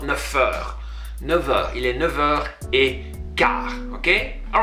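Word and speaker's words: neuf: say il est 9h15, because an F, when you're linking, is pronounced like a V. I know it's strange, right? It's not never pronounced like an F, like 9, which is number 9. If you want to link it with the vowel after that, you're going to use a V sound.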